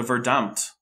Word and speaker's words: Verdammt: He used to call German the Verdammt, pronounced as if in English.